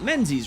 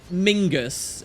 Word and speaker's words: Menzies: men's a lot now how do you pronounce his name is it men's as you'd expect and in my opinion sounds cooler or is it Mingus in reference to these old Scottish Highland Clans now we discussed this